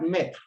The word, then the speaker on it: maître: Let's look at maître. There's accent on the E does not change the sound. It's the E together with the A that gives the sound E.